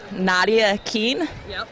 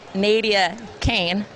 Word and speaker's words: Naevia Cain: your real name well my real name is spelled Nadya Keane but it's Naevia Cain and if you want